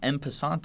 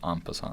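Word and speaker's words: en passant: top of that he even knows what an impant is uh it's pronounced aant yeah tomato tomato no I think you mean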